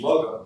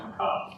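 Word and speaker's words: Muggah: And when you read the book, it looks like their name is Mugga, because it's spelled M-U-G-G-A-H, but I understand it's pronounced McCock.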